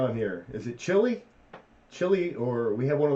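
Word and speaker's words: Chili: Chilly, or we have one of those up in New York. It's pronounced chilly.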